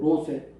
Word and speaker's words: 롯: 그래서 롯의 이 두 딸, 발음이 루시 아니고 롯의.